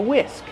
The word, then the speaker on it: whisk: I'm using a whisk. This is called a whisk. How do we pronounce whisk? Whisk. The H is silent. Just use the W sound.